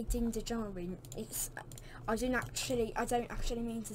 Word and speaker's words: Djarin: I remembered to spell his name by saying Din Djarin because it begins with a D, not a J, with Djarin. So when I say Din Djarin, I don't actually mean to say it.